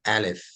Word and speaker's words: alif: I want you to listen to the sound of alif say it with me alif uh I live spelling a-l-i-f a L again